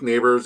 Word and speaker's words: Nabers: like what is it he was pronouncing Malik neighbors as Malik nabers I know we we